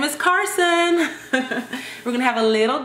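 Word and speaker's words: Karsyn: But her name is, drum roll, her name is Carson.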